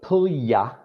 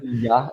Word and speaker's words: Puglia: So Puglia. Puglia. Yeah, Okay. I used to say Puglia as well because we want to pronounce the letters like that. Puglia, that GLI is a Y sound.